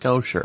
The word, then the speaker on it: Gocher: that guy who's like it's pronounced kosher like i'm that's not